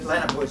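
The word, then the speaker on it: Lahuani: Lanapoy. Thank you. Have we got one more thing? It's spelled in an unusual way, but it's L-A-H-U-A-N-I. But anyway, but Lanapoy's how it's pronounced.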